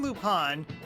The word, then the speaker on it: Lupin: Now, Arsène Lupin... By the way, I pronounce it Lupin instead of Lupin.